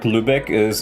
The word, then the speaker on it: Lübeck: And the word Lübeck it's a city in North Germany, and it is pronounced Lübeck.